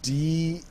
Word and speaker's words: DeNA: lot of misreporting going on that the company they're partnering with, which is DENA, Dena, as what I'll pronounce it as because it's Japanese. Are you sure it's so not Dene?